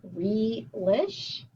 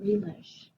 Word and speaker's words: relish: or closed syllable then i have re-lish relish have you ever heard of relish before i haven't because it's not realish it is something that you put on hot dog which i love yes not so much the hot dog rowell ish this is not an open syllable with a closed syllable it's two closed syllables so third grade again